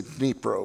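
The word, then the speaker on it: Dnipro: the deniper river that now it's fashionable to say nepro which is the Ukrainian pronunciation I may slip and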